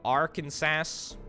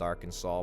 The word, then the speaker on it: Arkansas: uh no don't damage that uh we've got arkansas i know it's pronounced arkansas but you know a little bit of sass